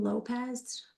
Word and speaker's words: Llopiz: Victim is Jonathan Lopez, but it's spelled funky, LLOPIZ.